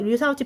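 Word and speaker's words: 刘少奇: 자 물러나자 이후 유사오치 이거 유사오치 발음은 이렇고요. 유소기 덩샤오핑은 등소평 한자로는 이렇게 쓰고요.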